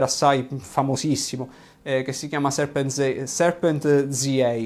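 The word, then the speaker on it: Serpentza: Comunque, se vi interessa questo argomento, c'è uno youtuber assai famosissimo che si chiama Serpent ZA, quindi in italiano si leggerebbe Serpenza, che è un sudafricano bianco che ha ovviamente una grande conoscenza del suo paese.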